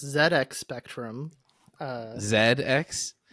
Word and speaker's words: ZX: pronounced ZX Spectrum uh Zed X Zed is just the British pronunciation of Z it's a British computer